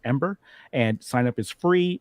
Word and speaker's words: em8er: It's pronounced Ember, and sign up is